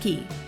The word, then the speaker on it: Cay: Disney's private island Castaway Cay, yes, it's pronounced Key, is a 1,000-acre island with only 55 acres currently developed for use.